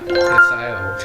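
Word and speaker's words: Hisao: Don't say it like English. Don't try this first. Yeah, I'm not. Hisayo.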